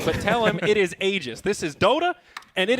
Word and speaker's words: Aegis: That is how I learned that it was Aegis. I was I saying know. Aegis. He DM'd LD and said, I don't know who that idiot is, but tell him it is Aegis.